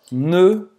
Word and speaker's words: ne: E o ne, presta atenção na pronúncia, ne... Faz a boca do O e fala E. Ne.